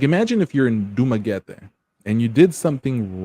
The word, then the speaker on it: Dumaguete: How do you pronounce the one start with a D? Dumaguete? Not well, Dumaguete.